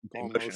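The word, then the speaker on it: Motian: of paul i'm curious what your pronunciation emotion yeah emotion okay interesting i hear so many different pronunciations and i i'm afraid to uh yeah that's the correct one yes i arranged his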